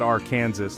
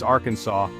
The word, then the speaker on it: Arkansas: You see, in Arkansas, it's not our Kansas like you might think. It's Arkansas.